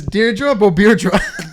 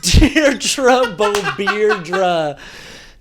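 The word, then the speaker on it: Deirdre Beaubeirdra: Jamie Lee Curtis's character's name is Deirdre Bobierdra. Deirdre Bobierdra, dude. I love that, but it's spelled Beau Beardra.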